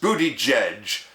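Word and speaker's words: Buttigieg: Transportation secretary Pete uh b-u-t-t-i-g-i-e-g pronounced booty judge fielded an embarrassing question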